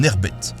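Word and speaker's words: Nekhbet: La Haute Égypte, le sud, est ainsi associée à Nékhbét (prononcer nérbette), une déesse à forme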